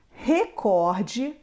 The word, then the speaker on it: recorde: é a mais forte nós temos agora outras palavras que são palavras paroxítonas ou seja a penúltima sílaba é a mais forte avaro Ciclope filantropo fortuito assim como gratuito intuito ibero recorde rubrika lembrando dando uma